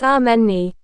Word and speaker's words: Amani: It's ameni.